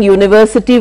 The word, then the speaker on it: university: So we are spelling university with a vowel, but we are pronouncing with a consonant.